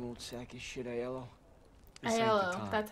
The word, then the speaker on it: Aiello: Aiello, that's how you say his name.